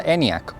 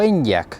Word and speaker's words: Enyaq: Hoy os traigo al canal el nuevo Skoda Enyaq o Enyaq, depende de la persona que lo pronuncie. De hecho, me busqué un vídeo de presentación de los CEOs de Skoda y hay quien lo pronuncia Enyaq y hay quien lo pronuncia Enyaq. The all-new Skoda Enyaq KV. There's really nothing to worry about with our Enyaq. Así que valen las dos formas.